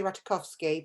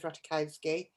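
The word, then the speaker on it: Ratajkowski: get this one emily ratakowski is how she pronounce it i'd say ratakovsky but she says ratakowski my body um i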